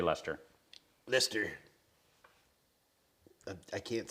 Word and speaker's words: Leicester: you know something like that norwood i'd say lester lister i can't say it it rhymes with really really really you know things